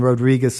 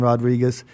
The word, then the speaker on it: Rodriguez: You don't have to roll R's, but there's a real difference in Rodriguez and Rodriguez.